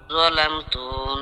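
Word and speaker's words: ظَلَمْتُ: আল্লাহুম্মা ইন্নী যালামতু জাল উচ্চারণ নরম করেন, যার উচ্চারণ নরম। যালামতু নাফসি যুলমান যুলমান কাসীরা।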